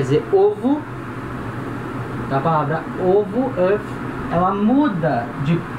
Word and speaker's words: œuf: A palavra œuf, palavra œuf quer dizer ovo. A palavra ovo, œuf, ela muda de pronúncia no plural.